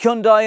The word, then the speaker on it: Hyundai: And yes, I know it's pronounced Hyundai in many parts of the world.